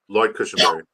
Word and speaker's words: Lloyd Cushenberry: Lloyd Cushenberry.